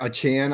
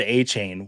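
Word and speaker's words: Achane: told in the chat he has declared he would like his name pronounced yeah so in the like the media day he said a chain was the pronunciation and now he's come out to say a Chan so I can't wait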